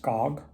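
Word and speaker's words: Gag: Her last name is G A G, but it's pronounced Gog.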